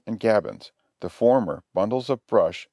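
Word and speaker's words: gabions: trench forms a complete breastwork the word is pronounced gavins the fashions pronounced fashions are as i said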